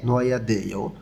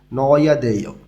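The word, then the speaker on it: 넣어야 돼: তো আমরা জানি হিউথ বাচ্চিমের পরে যখন ইয়ং আসে তখন হিউথটা আর ইয়ং এর স্থানে যাবে না, তাহলে এখানে অয় উচ্চারণ হবে, হিউথটা উচ্চারণ হবে না। এখানে নয়া দেয় মানে রাখতেই হবে।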